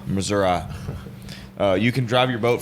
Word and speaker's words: Missouri: get on your boat and drive from it's pronounced Missouri Missouri you can drive your boat from our consultant